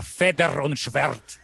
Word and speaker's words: Feder und Schwert: Mas para parecer alemão tem que falar Feder und Schwert.